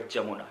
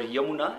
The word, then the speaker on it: Yamuna: It's river Yamuna, and it's pronounced here as Jamuna because those village people sometimes they pronounce it in their own accent.